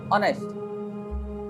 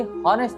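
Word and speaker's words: honest: नहीं होते हैं, जैसे ऑनेस्ट। ये हॉनेस्ट नहीं होता, ऑनेस्ट होता है।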